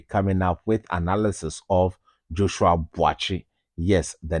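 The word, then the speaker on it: Joshua Buatsi: Yes, the name is not Joshua Boise. The name is Joshua Boachi. As we hail from the same hometown, I am pronouncing it as our natives will originally say, Joshua Boachi versus Willie Hutchison.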